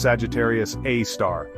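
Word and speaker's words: Sagittarius A*: This cosmic monster is called Sagittarius A asterisk pronounced Sagittarius A star.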